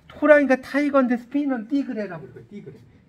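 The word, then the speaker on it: tigre: 띠그레. 자, 보세요. 스페인어에서는 자, 이 T 발음을 쌍디귿 발음으로 해요. T 티그레가 아니라 띠그레. 쌍디귿으로 발음하는 거예요.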